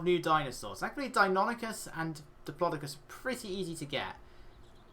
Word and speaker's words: Diplodocus: He's like, I think they did it on purpose to really emphasize that you pronounce it as Diplodocus. Like, he just says it that way over and over again. It's like, it's Diplodocus.